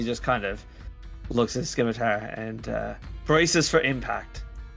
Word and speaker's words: scimitar: know which is right scimitar is the correct way to say it but i just i i say skim because it's funny because there's an h in there i don't like it